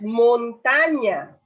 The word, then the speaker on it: montaña: Luego vemos montaña. Montaña. Dos átonas y una tónica que sería ta.